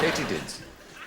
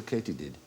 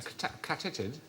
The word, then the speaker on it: katydid: No, they're called katydids. Why might they be called a katydid? A catitid? No, it is actually pronounced katydid.